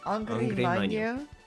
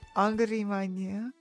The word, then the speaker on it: Angra Mainyu: Angry Mainyu? Angry Mainyu? Oh, it is. Okay. Okay. Okay. And then there's Angry Mango. It really is like angry.